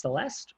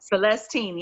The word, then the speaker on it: Celestine: It's Celeste or no? Celestine, yes. Celestine, okay.